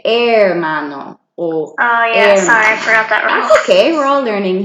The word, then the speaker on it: hermano: saying brother or sister you don't pronounce the H so you just say hermano oh okay we're all